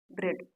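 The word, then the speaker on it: bread: कैसे साइलेंट होता है पहला एग्जांपल ब्रेड ब्रेड मतलब होता है रोटी इसे देखिए ई से पहले क्या कहा है ए के पहले ई आ तो यहां देखिए ए के पहले ई आया है और ए यहां पर साइलेंट हो जाता है इसे ब्रेड कहते हैं ब्रेड मतलब रोटी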